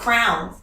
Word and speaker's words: crayon: a whole argument about how you pronounce crayon. And ooh, how do you pronounce crayon? Crayon. What does she think? Crown. No way. Where's she from? Kentucky. But she kept saying crown, and I was like, I don't know what you're saying.